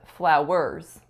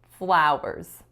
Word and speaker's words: flowers: syllable the next word I didn't stress correctly it was when I said flowers flowers I should have stressed the first syllable making it flowers flowers next up I said